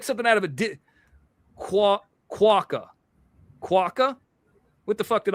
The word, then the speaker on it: quokka: Quokka? Kaka. that Amanda, Black Cat, if you're out there. By the way, yes. 21 super stickers. That's right. Quokka. I am saying it right.